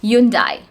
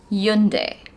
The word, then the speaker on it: Hyundai: times this particular word, we say Hyundai. Hyundai, right? But the correct pronunciation of this word is Hyundai.